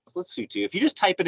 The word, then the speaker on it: Lesotho: in again it's spelled le sotho but it's pronounced let's see too if you just type it into google and